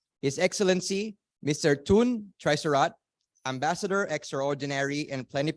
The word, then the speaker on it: Tull: a pure delight so his Excellency and it's pronounced tune is Excellency Mr toon tricerat Ambassador extraordinary and planet potentiary of the